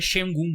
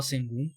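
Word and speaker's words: Şengün: E eu cheguei à conclusão que é Sengun mesmo a pronúncia, porque eu falava Sengun, mas eu vi foneticamente.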